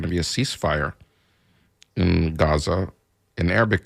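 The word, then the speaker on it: غزة: there was going to be a ceasefire in Gaza in Arabic it's pronounced raza so if you hear me say it that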